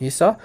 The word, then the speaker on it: Esau: Okay, so just standard English pronunciation, Esau.